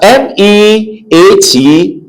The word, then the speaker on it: meat: But MEAT is what? Vowel number 1, meat.